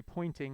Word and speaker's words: Poynting: so it's convenient that it's called the pointing vector because it points in the direction that the wave is propagating but it's spelled a little differently this was john henry poynting he was a student